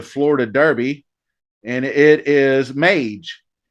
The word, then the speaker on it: Mage: And that is the correct pronunciation. I don't know why I thought Mad. I think Mage, magic, but a mage is a magician. So that's probably where that comes from.